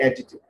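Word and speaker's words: adjective: ওই ডি এর উচ্চারণ হবে না, ডিটা কিন্তু সাইলেন্ট থাকবে।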